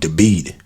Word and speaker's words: David: Now, the city I went to night was called Debid. D A V I D. I'm pronouncing it correctly.